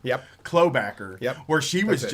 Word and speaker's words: Klobuchar: pronunciation. Klobuchar. Yep. Klobacker.